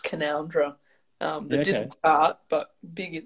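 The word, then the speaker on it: Canowindra: Before I get too far into it, am I saying it right, Canoundra? You are, yes. I gave a little like, woo, when you did it. Because most people say Canawindra and there is a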